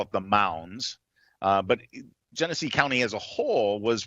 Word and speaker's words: Genesee: Tell us your involvement in the court case in how do you pronounce it? What county? Genesee? Genesee County.